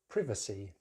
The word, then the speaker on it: privacy: But in British English, privacy.